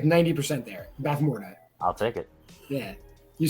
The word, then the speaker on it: Bavmorda: In what 1980s fantasy film will you find an evil sorceress named Bavmorda? How'd I do on that pronunciation? Because I was You were like 90% there. Bavmorda.